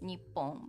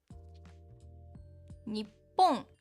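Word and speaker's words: にっぽん: When we wanna emphasize more that is Japan, we sometimes use Nippon, but we usually say Nihon, just Nihon. Nippon, it sounds a little like older, like traditional things. But when we encourage sport, how do you say that? In like Olympic or soccer World Cup or something like that, we say like Nippon, Nippon. That's because of rhythm.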